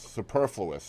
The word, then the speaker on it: superfluous: like you can get through very easily Superfluous Superfluous is how you pronounce that word um but yeah so like